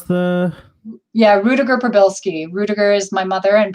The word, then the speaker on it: Rudiger-Prybylski: So, Rudiger, pronounce the... Yeah, Rudiger-Prybylski.